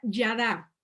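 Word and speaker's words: ידע: verdad de éxodo 10 en hebreo se se pronuncia ya da ya da en el diccionario está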